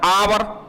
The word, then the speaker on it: hour: जैसे बेटा हम एक सेंटेंस कर दें HOUR, ये एच से स्टार्ट है, लेकिन इसका प्रोनाउंसिएशन क्या बेटा? आवर।